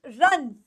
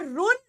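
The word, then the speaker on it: run: now this word is रन रन इट इज नॉट रुन इट इज रन ये हम सबको पता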